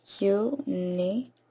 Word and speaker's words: university: University. So over here we have the sound of y, which is a consonant sound.